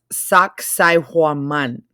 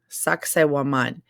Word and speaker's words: Sacsayhuaman: back here and watch the video, this is pronounced Sacsayhuaman. Sacsayhuaman. And it is an ancient Incan ruin, archaeological site in Peru. Sacsayhuaman.